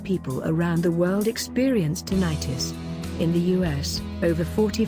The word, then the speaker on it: tinnitus: talking with your doctor tinnitus pronounced tinnitus by most physicians although others pronounce it tinnitus is the perception of